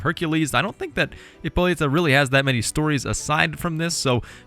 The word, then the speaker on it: Hippolyta: ladies man so uh hippolyta or sorry ippolita i'm gonna mess up the silent h a lot because i don't speak greek obviously but anyway she